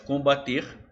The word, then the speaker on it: combater: Porque olha lá, de combater eu formo combate.